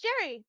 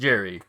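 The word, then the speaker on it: Jeri: Was it just Jerry? No, it's Jerry because I literally looked it up. It is pronounced Jerry. It's spelled very differently.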